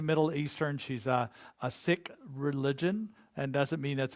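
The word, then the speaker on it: Sikh: people she's a middle eastern she's a a sick religion and doesn't mean that's a bad religion that's the way it's pronounced s-i-k-h but she heard these men in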